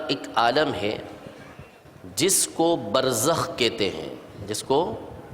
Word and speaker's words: برزخ: کو برزخ کہتے ہیں۔ با جس کو بے بولتے ہیں اردو میں، را جس کو رے بولتے ہیں، پھر زے، پھر اس کے بعد خے، یعنی جو اردو تلفظ ہے اس کے مطابق برزخ۔ یہ برزخ ایک عالم